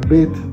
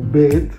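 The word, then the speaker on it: ב: Vimos que la Bet tenía dos formas de pronunciación, tanto Bet, así como una B larga de burro, la B de burro. Y también podía sonar como una V, V, ¿sí ves? V, no B, sino V.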